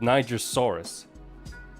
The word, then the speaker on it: Nigersaurus: But apparently this is called Nigersaurus. And thank God I'm pronouncing it as a Niger.